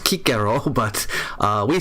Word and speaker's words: Cicero: Cicero is the English pronunciation is completely wrong. It's pronounced Kiko, but uh, we say Cicero in English.